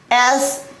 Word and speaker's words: siege: S-I-E-G-E.